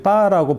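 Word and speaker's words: 八: 왜 이렇게 8을 좋아할까 제가 한번 알아봤더니 8을 이제 중국 사람들은 이제 빠라고 발음을 하는데 그게 돈을 번다라는 뜻의 그 파라는 단어하고 비슷하다고 합니다.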